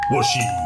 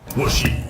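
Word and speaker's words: 和紙: Il peut aussi se prononcer shi, comme dans Washi.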